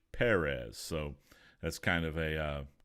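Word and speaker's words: Pérez: done by George Perez that's emphasis on the first II I guess all these years I've been pronouncing his name wrong I've been pronouncing it George Perez but it's actually George Perez so that's kind of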